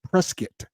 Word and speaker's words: Prescott: Now, I always thought it was Prescott, but he fel spelled it out phonetically. He says it is Prescuit.